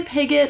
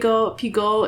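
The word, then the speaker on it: Piggot: It seems like it's probably pigot in English and pig piggo in French, but you know, we could call her Pigo.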